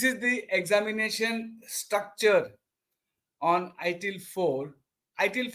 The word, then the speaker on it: ITIL 4: the new avar and it is not pronounced as ITIL V4. It is pronounced as ITIL 4.